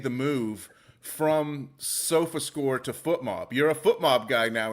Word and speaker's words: FotMob: be the SofaScore folks, or going to be our good friends at FootMob, or is it FotMob? See, that's the thing. I'm not sure how to say it. It's FOTMOB, but choose your own adventure with that one.